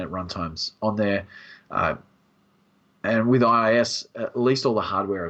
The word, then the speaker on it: IaaS: How do you pronounce it, Kim? I say IaaS.